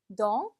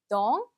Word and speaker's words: dans: dans, dans. 그렇죠? 마지막 s 발음이 안 돼요.